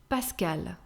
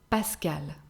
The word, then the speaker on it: Pascal: polino a mixed name pascal pascal which is pronounced the same way for the feminine version pascal and that's my dad's